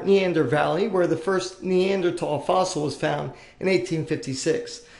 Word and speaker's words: Neanderthal: to be addressed now neander tall is German for neander valley where the first neander tall fossil was found in 1856 now there is no th like th pronunciation in German it is pronounced Neanderthal